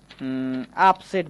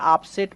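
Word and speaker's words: upset: ঠিক তেমনি করে আমরা বলতে পারি আপসেট বানানটা। একটু খেয়াল করতে হবে। আপসেট মানে হচ্ছে বিচলিত। এখানেও আমরা ইউ এর পরে পরপর দুইটা কনসোনেন্ট পেয়েছি।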